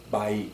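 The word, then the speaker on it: baik: your news well the way that it's used by Indonesians in the way that you and I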